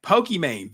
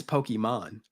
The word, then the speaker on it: Pokimane: Pokey, actually, the way you pronounce her name is Pokimane, not Pokimane.